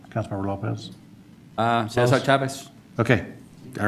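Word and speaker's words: César Chávez: How'd I do with the pronunciation, Councilmember Lopez? Cesar Chavez.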